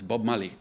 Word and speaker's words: Marley: is bob marley and it's always pronounced in sierra leone as bob mali it's all one word and what i'm looking